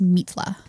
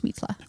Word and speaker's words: Mitla: to tune into that it's probably pronounced mitla mitla mitla this an i sound as an e in Spanish mitla one thing I will